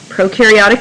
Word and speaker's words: prokaryotic: should remind you of prokaryotic and eukaryotic pro rhymes with no and so when we think prokaryotic we think no nucleus and you rhymes